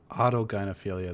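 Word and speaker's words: autogynephilia: They get which I've seen enough video auto gyophilia. That's how it's pronounced and enough pictures.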